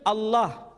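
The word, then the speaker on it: الله: Tidak ada seorang pun di kalangan masyarakat Timur Tengah ketika menjumpai istilah Alif, Lam, Lam, Ha dibaca Allah. Tetapi mereka serempak menyebutnya dengan pronunciation Allah.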